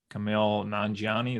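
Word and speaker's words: Kumail Nanjiani: think of uh I always forget his name Camille nanani is how you say it yeah did that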